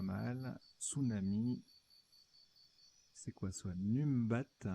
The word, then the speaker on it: numbat: Numbat. Alors, ça se prononce Nombat.